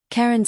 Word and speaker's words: Caeryn: The Duskborn were vampires, old ones, led by a creature who called himself Caeryn Ashveil, pronounced like Cairn, a vampire who had